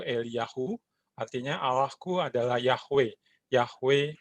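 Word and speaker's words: אליהו: bahasa ibraninya ada kisah itu kalau dibaca itu eliyahu artinya arahku adalah Yahweh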